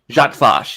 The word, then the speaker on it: Jat Vash: going to butcher this pronunciation because I can't pronounce even Earth-human English things. Is it Go for it. Is it Jat Vash? Jat Vash, yes.